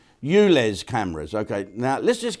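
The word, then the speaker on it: ULEZ: smash up Alice's I'll how do you pronounce that Euless not you lay yeah they've got them in in Spain as well it's called you lay no you less cameras okay now let's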